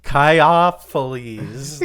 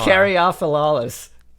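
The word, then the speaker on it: Caryophyllales: With some 1,750 known species of the order Caiophylles. Let's just say that's how you pronounce it. The word cactus derived. Wait. Oh, there is an R. There is an R. Caryophyllalis. It's Caryophyllalis, man.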